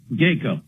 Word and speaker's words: GACO: What is GACO? Am I pronouncing it properly, or GACO? GACO.